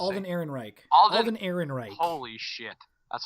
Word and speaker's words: Alden Ehrenreich: I don't know how to say his name, but Alden Reich. How do you say? Alden Ehrenreich.